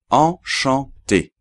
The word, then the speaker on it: enchanté: Vale entonces qué pasa que no oimos ni una n se escribe con dos n la palabra pero no oos las n porque no se pronuncian y ya que están combinadas con la vocal que está antes y forman juntos solamente un sonido Entonces lo repito en